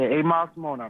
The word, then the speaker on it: 8 Miles to Moenart: We're about to get into this other joint off the 8 Miles to Moenart. This is am I pronouncing that right? Yeah, 8 Miles to Moenart, my man.